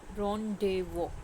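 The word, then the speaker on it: rendezvous: इसकी सही प्रोनंसिएशन है। रन डे वो जेड जो है और यूएस इसमें साइलेंट है।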